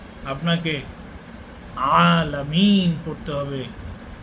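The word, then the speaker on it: العالمين: আইন আইনকে আপনি আইন আলামিন পড়তে পারবেন না আপনাকে আলামিন পড়তে হবে আইনের উপরে খাড়া জবর রয়েছে এটাকে আপনাকে টানতে হবে আলহামদুলিল্লাহি রাব্বিল আলামিন বিশ্ববাসীর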